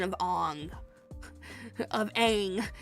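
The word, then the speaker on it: Aang: Might Shyamalan did not completely butcher the pronunciation of Ang of a saying it was Ang because he was trying to uh make it culturally correct.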